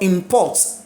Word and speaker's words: import: in that babic verb so if you see the word import i n p o r t and you see bracket in front n take it that the stress is on the first syllable you see in import and the N the v s at the front it is a verb import import import import